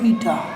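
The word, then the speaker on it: η: দক্ষতা data transmission দক্ষতা বলে একে ইটা এর উচ্চারণ ইটা ইটা দ্বারা সূচিত করা হয় ও প্রতি শতাংশে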